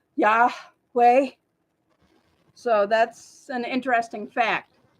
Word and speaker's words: Yahweh: it is yosua and God's name is Yahweh as we say it like when we first breathe in the morning when we get up we go yeah way so that's an interesting